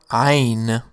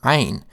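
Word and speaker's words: عين: One piece of advice for people trying to make the ayn sound is to sing the lowest possible note, then one lower. Like ah.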